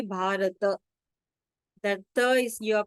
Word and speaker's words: भारत: So generally, how do we pronounce this in Hindi? We will say Bharat. But in Sanskrit, you have to say Bharata.